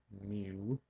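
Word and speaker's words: μ: not an English letter it's a Greek letter me mu is how you say that mu um and that is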